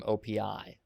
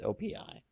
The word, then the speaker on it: OPI: the base code from OPI which some people pronounce as op but I think it's OPI and OPI is all